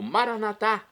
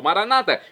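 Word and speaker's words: Maranatha: E agora eu clamo Maranatá, como dizemos nós católicos, ou maranata, como dizem nossos irmãos separados das comunidades evangélicas ou protestantes. Não importa a pronúncia, o significado é o mesmo.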